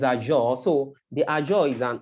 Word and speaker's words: Azure: You know, I wasn't able to pronounce it well, but it's Azure.